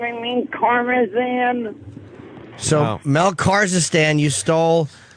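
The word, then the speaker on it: Karmazin: Kazakhstan. I know I said it wrong. I mean Karmazan.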